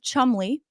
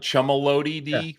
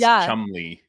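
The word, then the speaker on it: Cholmondeley: like Chumalody, but it's Chumley. It makes no sense. And she is married to David Rocksavage. Yes, David Rocksavage, 63, the Marquess of Chumley.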